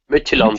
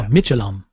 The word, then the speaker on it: Midtjylland: Midtjylland. They're Danish. Ah, there you go. Midtjylland.